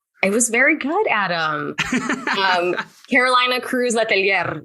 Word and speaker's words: Cruz-Letelier: Carolina Cruz-Letelier. You got to roll your R's.